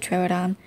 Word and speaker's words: Troodon: I pronounce it Troodon.